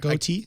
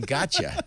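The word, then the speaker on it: Gotye: didn't know about that yeah I didn't either goate I've been saying gotcha I knew it was goate I didn't realize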